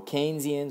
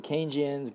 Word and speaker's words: Keynesian: not the price level kesian on the other hand or keynesians or Kian God I've seen so many economics videos and different people pronounce it differently so I'll just say kesian because you know they follow John manod kin